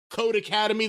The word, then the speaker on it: Codecademy: word for academy and it's pronounced code academy the same way it would be if it was two words and the e is